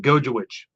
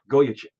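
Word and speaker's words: Gojowczyk: far you're not far it's Goya chick a chick the c y z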